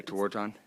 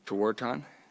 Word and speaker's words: Tewaaraton: Yeah, Tewaaraton. Thank you. Can Yep. you pronounce it one more time? Tewaaraton.